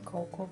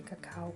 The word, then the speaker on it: cacao: I keep saying cocoa, but it's actually cacao. Cocoa is America, how they say it in America.